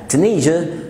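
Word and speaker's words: Tunisia: عندنا كمان تونس، تونيزيا او تونيزيا. اغلب الكلمات في الانجليش اللي فيها اس اي اي، عشان هدي هتيجي تاني معانا في الفيديو، ممكن تقولها زيا او جا جا. تونيزيا، تونيزيا.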